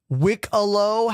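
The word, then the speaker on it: Wikelo: Wickalow. Hey, can we all clap for Wikipedia giving us the pronunciation here? Wickalow.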